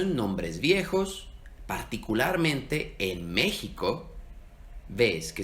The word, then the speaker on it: México: Por eso en nombres viejos, particularmente en México, ves que se utiliza la X y se pronuncia como J, como en México o en ciudades como Oaxaca.